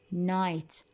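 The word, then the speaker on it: knight: Always if the words start with K followed with N, that means the K is silent.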